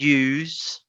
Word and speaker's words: use: words is choose and use okay here's a tip every time you see an s in between two vowel sounds it can be a z sound so you can say choose and use next is the diphthong